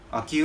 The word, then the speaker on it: 秋保: んかね、秋湯のおはぎって言うんですよ。秋湯って読むんですよ、これ。